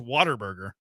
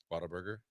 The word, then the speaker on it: Whataburger: Who says Whataburger? It's Whataburger. How do you say it? Whataburger. Whataburger. Whataburger. It's not water.